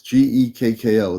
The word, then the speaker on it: Gekko: He gave me his name, but I didn't know how to spell it. So it's Gekko.